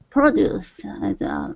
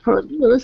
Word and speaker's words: produce: There are two pronunciations of this word. Produce. Noun. Yeah. Produce. Exactly. Verb. Produce and produce. Yeah, exactly. So produce is the noun.